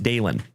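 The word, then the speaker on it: Dalynn: And it was spelled D-A-L-Y-N-N, like Dalin. But she pronounced it Dalen.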